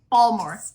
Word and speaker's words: Baltimore: Oh, there's too many syllables. Baltimore. Just roll it all together.